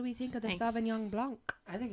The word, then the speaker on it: Sauvignon Blanc: Sauvignon Blanc.